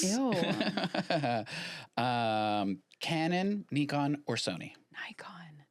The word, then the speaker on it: Nikon: Nikon. It's pronounced Nikon.